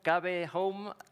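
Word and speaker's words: Kave Home: Y dentro de ¿cómo lo debo pronunciar? Cave Home, Cave Home.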